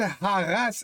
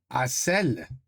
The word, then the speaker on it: harcèle: El Haras. No. It means El Haras. Mais on dit pas ça. Harass. You see what I did there? I tried. C'est Hassel. Because you don't pronounce the H, right?